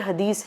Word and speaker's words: हदीस: तादाद में ऐसे फैब्रिकेटेड हदीस हैं जिसमें होता है कि तो हदीस बोलते हैं उसको स्पेल करने में इंग्लिश में HADITH लिख देते हैं, but when we pronounce the correct pronunciation is हदीस।